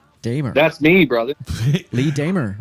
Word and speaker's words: Dehmer: Pronounce it, Lee. Dehmer. That's me, brother. Lee Dehmer, right? Lee Dehmer.